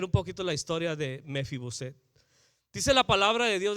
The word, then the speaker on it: Mefiboset: Batallo para pronunciar el nombre. Es Mefiboset.